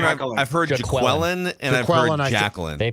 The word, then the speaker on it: Jaquelin: Dex, it's either I always call Jacqueline. Jacqueline. I've heard Jaqueline and I've heard Jacqueline.